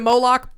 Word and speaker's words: Moloch: Moloch.